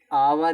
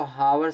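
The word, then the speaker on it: hour: आवर इसको हावर से नहीं पढ़ते।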